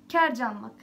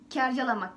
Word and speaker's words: kercalamak: Kercanmak. Hayır. Yani aslında öyle de şöyle okunuyor. Kercalamak yani garcalamak gibi. Kercalamak denir.